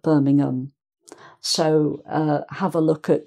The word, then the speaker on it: Birmingham: So this is Birmingham, Birmingham, not Birmingham, but Birmingham.